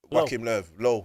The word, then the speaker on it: Joachim Löw: The Joachim Löw, yeah.